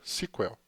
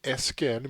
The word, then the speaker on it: SQL: consulta estruturada em inglês vindo daí o fato de até hoje a sigla em inglês ser comumente pronunciada sequel Então se vocês olharem alguns vídeos na Internet vocês irão ouvir muito esse termo sequel já aqui no Brasil a gente costuma usar o nome skl mesmo as funções do SQL